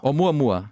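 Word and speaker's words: ʻOumuamua: Oumuamua.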